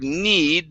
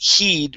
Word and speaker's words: heed: good all right so instead of need this is an h here so this is he didn't heed my warnings he didn't heed my